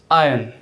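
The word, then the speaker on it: iron: देखिए आई अन, इट्स आयन, इट्स आयन, आयन।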